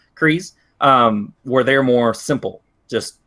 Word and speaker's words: Kryze: That actually takes front and center, where you have Bo-Katan and Clan Kryze, I think is how you say it. Yeah, Kryze.